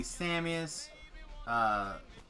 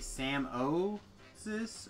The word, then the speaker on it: Samius: They call me Samius. Somebody was calling me Sam-O-sis earlier today.